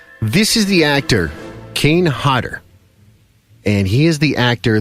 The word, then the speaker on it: Hodder: You gonna say my name correctly? Kane Hodder. Hodder. Pronounce it for me. This is great. If it was 2 T's, Hodder. What would you say? Hodder. So it's Hodder. Of course it is.